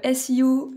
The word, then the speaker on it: SEO: par le commencement donc Siou donc c'est le sigle anglophone ça s'écrit SEO et ça veut dire